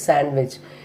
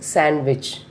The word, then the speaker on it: sandwich: Fourth one is sandwich. Here we are not stressing the D. I am not saying sandwich. It is sandwich.